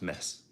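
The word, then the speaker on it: Metz: the person that said that Mets is actually pronounced mess as well so it's it's nice to get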